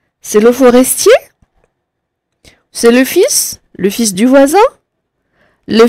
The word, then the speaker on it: fils: le fil ah le fils le fils ça s'écrit bizarre mais c'est comme ça le fils ça s'écrit comme ça et on ne prononce pas le l d'accord le fils du